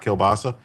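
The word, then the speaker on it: kiełbasa: So, kilbasa. Oh yeah, that's pron kilbas is how it's pronounced in Polish, right?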